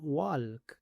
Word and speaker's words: walk: Muchos pronuncian esta palabra walk, pero aquí la l es muda.